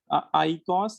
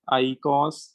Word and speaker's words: आईकॉस: तो आईकॉस अगर ऐसे भी लिख देंगे तो भी वो सही माना जाएगा, ठीक है ना। ई वैसे साइलेंट होता है तो एनसीईआरटी वालों ने ई को हटा ही दिया है, पूरी तरह से इसको खत्म कर दिया।